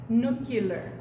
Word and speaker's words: nuclear: escribir para qué entonces nuclear en inglés lo pronuncian no killer no cuidas hay mucha gente